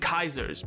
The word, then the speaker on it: Caesar: czars in Russia and kaisers, because also Caesar's likely meant to have been actually pronounced as Kaiser. The C probably makes a k noise, not a s noise, but that's linguistics, baby.